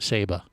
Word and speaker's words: Saba: go so he's wearing his saba shirt or seba well i'll see yeah correct that's how the locals say it saba saba so but he's wearing